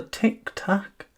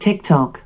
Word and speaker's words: TikTok: A tic-tac? Alexa, what's a tic-tac? It's pronounced TikTok.